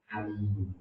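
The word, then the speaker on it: أليم: Gembirakanlah mereka dengan siksa yang alim. Bukan alim ya, pakai hamzah. Adzabun alim, siksa yang pedih. Kalau bacanya adzabun alim, salah.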